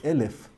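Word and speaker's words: אלף: The letter Aleph has the numerical value, the gematria of 1, but the word Aleph can also be pronounced Elef, meaning 1,000, multiplicity.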